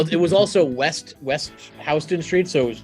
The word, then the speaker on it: Houston Street: ended up last night in Houston Street which is spelled the same as Houston and I was very